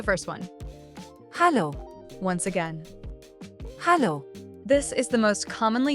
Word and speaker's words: Hallo: hallo, This is the most commonly used form of greeting in Germany. Notice the difference in the pronunciation. It's hallo, and not hello.